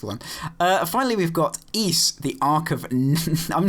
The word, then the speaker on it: Ys: And I just want to thank the producer for telling us how to pronounce uh East, which is spelled capital Y S, which I've always called Wise.